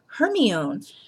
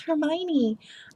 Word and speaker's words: Hermione: to say it so everyone else was kind of like her me own and I was too shy to speak up and be like guys I think it's Hermione um but I remember